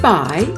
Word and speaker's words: buy: In the irregular word buy, the second sound I is spelled with a U and a Y together. The heart reminds us that UY is an irregular spelling for the sound I.